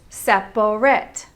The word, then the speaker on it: separate: We tend to make it two syllables instead of the proper three syllables. Separate. Instead, we say separate.